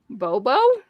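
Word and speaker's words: Bobeau: knew it oh yeah it says the pronounced name on the back oh bobo here you pronounce that can you see it uh well the second word is also bo b-e-a-u like the name so bobo bobo just spelled both differently that's funny clever i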